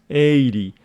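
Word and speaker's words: eighty: this one is pronounced 80 the stress of this one falls on the first syllable 80 this one on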